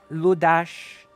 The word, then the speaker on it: Ludas: And Hungary, as is always pronounced as sh. Oh. Ludash.